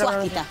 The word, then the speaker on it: Suásquita: Suásquita, muy bien. Papri. Sí, ¿le pronuncié bien? Perfecto. Suásquita.